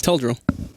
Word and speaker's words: Teldrill: Teldrill. Like, Tell. And Tell drill.